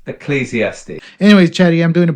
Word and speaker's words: Ecclesiastes: This story uh this this book of the Bible is it E escalistes? Absolutely. The book is pronounced Ecclesiastes.